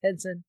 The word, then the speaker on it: Henson: Karen Henson I guess Henson just like Jim Hensen uh spelled the same way so I'm was presuming